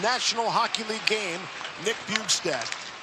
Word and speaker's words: Bjugstad: Coming off his 800th National Hockey League game, Nick Bjugstad. The J is silent.